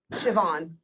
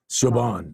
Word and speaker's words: Siobhan: sorry we're gonna just go back it is pronounced hold on where did Pam's comment go Siobhan Siobhan it's a it's a s z kind of